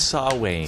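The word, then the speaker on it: Samhain: know is Halloween in do you spell it Sam Hayne yes that's exactly how you spell it it's saw Wayne sne what's with that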